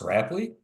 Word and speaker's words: Rapley: if I'm wrong but your last name is pronounced rapley that's right that's right okay with